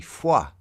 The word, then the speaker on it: Fua: Uh oh, so you're probably Fua then, aren't you? Um rather than, sorry, mispronounced your name there.